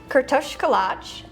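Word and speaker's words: Kürtőskalács: Yes, it's pronounced Kurtoshkalach.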